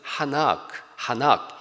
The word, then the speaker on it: 에녹: 에녹을 히브리어로 발음하면 하낙 이렇게 발음해요.